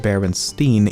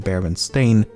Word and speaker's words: Berenstain: First of all, I actually had to re-record this segment multiple times as I found myself pronouncing it Berenstein even when I should be saying Berenstain, and I've never even heard of the franchise before making this video.